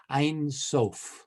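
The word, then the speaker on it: Ein Sof: we could get a reader please it's that's pronounced einsof i can read uh this is regine um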